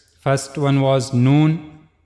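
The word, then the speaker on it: ن: First one was noon. The origin of letter known is tip of the tongue and it will go connect to gum of the two top front teeth here.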